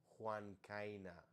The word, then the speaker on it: Juan: the I so I want to go like Juan instead of ju or W yeah I appreciate